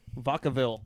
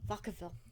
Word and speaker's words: Vacaville: where are we at yeah right here babe vodkaville vacaville yep that's how you pronounce that california now he died his death